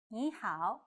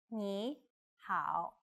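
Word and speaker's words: 你好: let's get started how start by saying Nihao which means hello knee how then say which means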